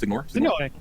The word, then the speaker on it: Signore: How do you pronounce it? Signore. Signore.